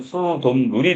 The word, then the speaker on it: 수돗물: 자, 그래서 이때 물이 우리 고유어고 한자가 결합을 하면서 발음은 수돗물이 되니까 니은이 하나가 덧났네요.